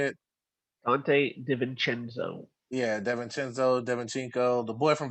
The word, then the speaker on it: DiVincenzo: the Bucks, one of their best bench players, Devinchenko, or is that how you say it? Dante DiVincenzo.